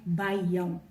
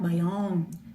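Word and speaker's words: baião: called by young okay it's spelled b-a-i-a-o and in brazil we do in portuguese we do have the accent too so by young and over the a there is a an accent so we say by young and not my own by young so that's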